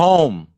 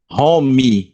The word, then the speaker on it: home: médico usa qualquer tipo chama Glow on o home certo o h inglês a gente pronunciada como R home e no inglês a